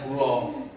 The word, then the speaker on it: kula: Timur, di Jogja itu, kalau misalnya kulo itu nulisnya kula, tapi dibacanya kulo.